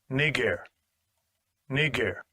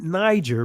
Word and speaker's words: Niger: it one more time we see the word strong G 3526 Nar Nar right so that's the proper pronunciation of this word I